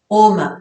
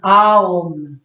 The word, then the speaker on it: Om: Et donc d'après le yoga, ces 3 sons partent de ce qu'ils appellent la syllabe Om, Aum. Donc le premier son, c'est le son A.